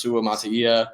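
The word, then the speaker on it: Suamataia: Uh, so the whole left side of Kansas City's offensive line, you have Kingsley, uh, I think it's pronounced Sua Masia.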